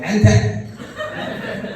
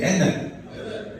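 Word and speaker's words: innit: Now I hear the Scottish people say that, but they say it like ente. Ente. We say enne.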